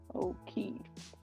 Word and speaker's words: O'Keefe: and their friend Calvin O'Keefe. Let's see how you say that. Let's see. Yeah, I said it right.